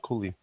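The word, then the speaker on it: Cuylle: Yeah, Uh, him and Cooley, him and not Cooley. yeah, What's his name? Um, Fox. no, no, Miller, JT Miller. Oh, no. Cooley, like CU. Yeah, CUYLE. Yeah, exactly.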